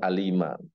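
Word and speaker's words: أليما: Misalnya eh, azaban alima, siksa yang pedih pakai hamzah. Ada orang bacanya dengan azaban alima pakai ain. Artinya siksa yang sangat mengetahui kan nggak pasti jauh kan gara-gara ain jadi hamzah atau sebaliknya.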